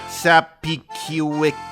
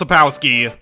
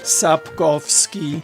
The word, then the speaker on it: Sapkowski: as we keep telling great stories which honor Sapiciwikis." The guy who made The Witcher. Oh, I looked it up, it's pronounced Sapowski. You stupid! Sapkowski.